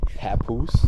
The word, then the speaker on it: Papoose: of on the stairwell on the I that Papoose Papoose you know who that sounds familiar you